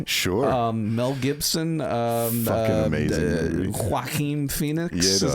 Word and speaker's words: Joaquin Phoenix: Joaquin Phoenix. Is that how you pronounce his name?